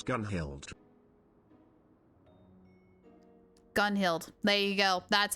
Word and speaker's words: Gunhild: Rain, how do you pronounce Gunhild? Gunhild.